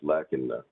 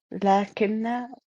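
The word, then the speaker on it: لكنّ: Yeah, it's lakinna. Anyways, go ahead. So it's pronounced lakinna, not lakinna. Yeah, lakinna. Yeah.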